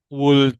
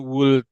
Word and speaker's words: would: W would jangan would tapi would l-nya dibuang jauh-jauh. Oke.